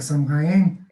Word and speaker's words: Samhain: É só bom salientar, né, que nós aqui no Hemisfério Sul estamos comemorando o Samhain, eu prefiro a pronúncia germânica, Samhain, né, e lá no Hemisfério Norte não, lá estão em Beltane, né.